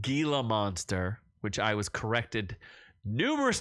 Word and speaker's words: Gila monster: to pronounce it properly it is Gila monster J I'm no heel it's not a heila monster anyway um so I'm